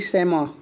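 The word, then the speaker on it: chamois: है हां यह देखिए शमा समा इसका उच्चारण थोड़ा सा अलग है ठीक है ना सी एच ए आर एम ओ आई एस ठीक है ना शमा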